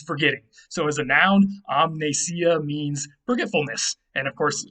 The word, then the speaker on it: amnesia: how about amnesia now we don't drop the m here because there's something at the beginning that allows us to keep the m there and pronounce it the way we like to pronounce things in english so you have amnesia